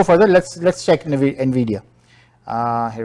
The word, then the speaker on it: Nvidia: Nvidia, that's how it's pronounced, it's 8.7% जो है ये ऊपर गया है और इस वक्त 262% in the last quarter from the earlier year.